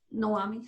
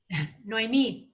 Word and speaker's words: Noemi: Noami, sorry. Noemi, accent on the last syllable.